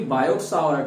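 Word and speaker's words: Biot–Savart: Actually बायो-सावर्ट है बट T silent है, तो बायो-सावर्ट लॉ।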